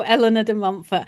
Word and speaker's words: Eleanor de Montfort: I would love for you to talk about Eleanor de Montfort. Is that how you say her name? I don't know how to say any of these names. Yes. No, Eleanor de Montfort.